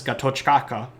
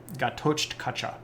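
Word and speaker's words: Ghatotkacha: I'm sorry Gat gatcha Gat kacha sorry some of these names are particularly difficult to pronounce Gat Gat kacha there's this weird TK sound there in the middle that always gets me uh so we know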